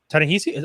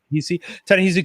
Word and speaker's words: Ta-Nehisi: Ta-Nehisi? Oh, have I been pronouncing that man's name the whole time? Yeah. Ta-Nehisi Coates, Mr.